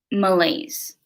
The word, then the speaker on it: malaise: the definition yeah and it's pronounced malaise like like the crisps lays so malaise i think that's correct um it's sort of like